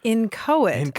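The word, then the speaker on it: inchoate: a t e yes not incho exactly it's incoit of course meaning imperfectly formed or not quite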